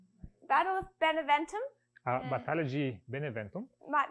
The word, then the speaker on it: Beneventum: Não sei se assim se pronuncia a Guerra de Benaventura. I'm sure if she pronounces it right. The War of Benaventura. You say. Battle of Beneventum A Batalha de Beneventum.